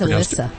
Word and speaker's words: Alyssa: Is it Elisa or Alicia? I think it's Alyssa. Alyssa. So I really messed it up.